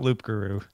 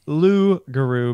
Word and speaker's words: loup-garou: timely Oh breaking breaking news oh that's not loop guru oh thank you tail Darrell and the twitch chat says it's pronounced Lu guru because it's French for werewolf oh the pees